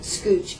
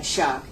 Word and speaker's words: Schoch: It looks kind of like Scooch, but you pronounce it like Schoch.